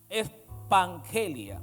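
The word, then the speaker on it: ἐπαγγελία: En la Biblia, la palabra promesa es una palabra que en el griego se pronuncia como ah expangelia. espangelia, así mismo como suena.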